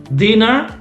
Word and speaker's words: dinner: the pronunciation is also so this is dinner this one is dinner double n yeah but this one is diner diner okay so in english double cons okay we use double consonants to keep the sound short okay so for example